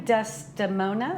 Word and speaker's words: Desdemona: Debbie, you're playing Desdemona? Is Correct, that how you say it? Desdemona, yes.